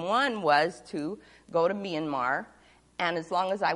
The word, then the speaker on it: Myanmar: the capital of Myanmar looks like my and Mar but they pronounce it Myanmar and they've moved the